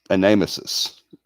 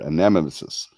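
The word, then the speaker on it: anamnesis: in our past lives a nemesis new myths missus I can never say that word a nemesis it's like amnesia but it's not an amnesia sand nemesis's and now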